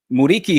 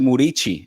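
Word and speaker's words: Muriqi: Uh Muriki, who actually you pronounce it Murichi.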